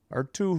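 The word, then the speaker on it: Artturi: Oh, it's like R2-D2. R2 Who rule.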